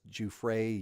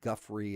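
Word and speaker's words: Giuffre: Uh and you'll hear the media her married name was Juay. You'll hear them pronounce it Guffrey and all these different ways.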